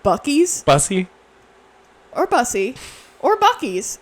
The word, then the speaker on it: Buc-ee's: Isn't Like- it pronounced Bussy? No, it's pronounced Buc-ee's Bussy?